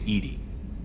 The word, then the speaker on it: EDI: airlock is a jar why are you named Edie Ed is the phonetic pronunciation of Eed that is an acronym for